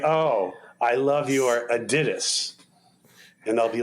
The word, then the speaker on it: Adidas: oh I love your Adidas and they'll be like you mean Adidas and they're and you're like oh no no no the credit the correct German pronunciation is Adidas I'll say how do